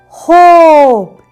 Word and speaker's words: hope: this letter is O So h o p hope is silent sh h o p hope is sh